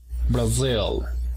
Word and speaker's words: Brazil: Brazil. está en la segunda sílaba.